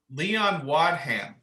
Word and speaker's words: Wadham: Leon Waddum. Think of a wad and a ham, and then run it together. Leon Wadham.